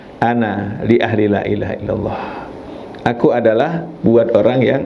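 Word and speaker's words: لا إله إلا الله: Tapi yang bagus bacanya ya, la ilaha illallah. Kalimatnya, la-nya itu panjang, la ilaha illallah, la ilaha illallah.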